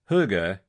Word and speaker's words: hygge: First of all, let's start with how you say it. pronounced huga.